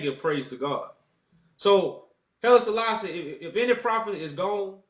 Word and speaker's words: Haile Selassie: What's your viewpoints on Haile Selassie? Did I say his name right? Haile Selassie. Yeah, Haile Selassie.